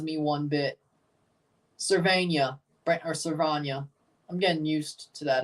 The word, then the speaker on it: Servania: St Louis he does not you told me servania yes thank you if I'm mispronouncing something even if it's Sly I want